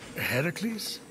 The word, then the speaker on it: Heracles: Phoenix, after boldly besting the Gorgon that ambushed Heracles. What are you doing there? That thing with your voice? Heracles? Yeah, that! That is how it's supposed to be pronounced.